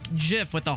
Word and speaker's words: GIF: No, it's pronounced GIF with the J, with a soft G.